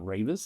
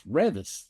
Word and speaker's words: Revis: And then when Beavis and Reavis, my name's not Reavis, it's Revis. Is that what they normally pronounce your last name? Everybody pronounces it Reavis.